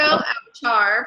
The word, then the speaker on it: Owchar: be though let's see my name is Coco out Char pronounced out and I got to